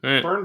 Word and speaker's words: Byrne: Before, whatever it was, I'm pretty sure it's Byrne. It's been Byrne for every other person I've seen that last name for.